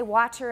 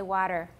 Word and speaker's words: water: water but you know we don't say watcher in american we say water they're assuming that you